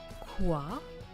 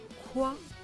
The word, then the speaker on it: quoi: Quoi? It's the wa sound. Wa. Quoi de neuf?